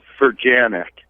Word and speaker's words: Fanic: help me with it it's fanic fanic fanic fanic exactly how it's spelled fanic okay fic I